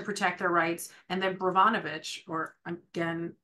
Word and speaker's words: Brnovich: And then Brnovich, or again, ruining the name of the pronunciation, it's Brnovich, versus the Democratic National Committee from 2021 stripped away more pieces.